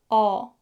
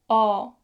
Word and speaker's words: 어: When you pronounce 어, don't put tension in your lips. Instead, put more focus on your jaw. Gently drop your jaw down like 어, 어, 어.